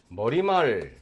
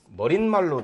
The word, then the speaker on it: 머리말: 즉 대표적인 것으로 새집 이런 말들이 있고 그 다음에는 머리말 자 머릿말로 날 필요가 없고 그 다음에 개구멍 자 개구멍 소리가 안 나니까 사이소리를 적지 않는다.